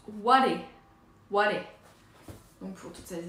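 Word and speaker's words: 我: Il se prononce ware.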